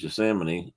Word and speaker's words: Yosemite: actually surprised by that Yosemite or correctly pronounced Yosemite is three million six hundred